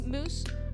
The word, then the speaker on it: mousse: And then there's another version of it where it's a fruity mousse, which is or mousse. Fruity mousse. It sounds like mouse, but not. It's in between moose and mouse.